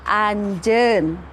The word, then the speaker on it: anjeun: Kamu, bahasa Sundanya itu anjeun. Anjeun, di situ ada huruf eu, jadi kita bacanya ada huruf e dan u, jadi kita bacanya eu.